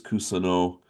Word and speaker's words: Kusano: And that is how you say it. I heard one of the announcers say his name. And so it is Kusano, and he is 11 and 0.